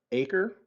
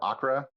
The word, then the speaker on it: Acre: Next would be the old city of Acre or Accra, depending on how you pronounce it. My Israeli guide pronounced it Acre. And that is basically... Or it's Acre or Akko. AKKO is the way it's spelled.